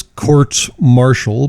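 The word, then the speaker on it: courts-martial: be noticing that I'm referring to with them as quartz Marshall because that's how you say it but that's besides the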